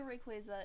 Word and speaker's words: Rayquaza: say require all you want but the correct pronunciation is Rayquaza shut up shut up this courgette so rick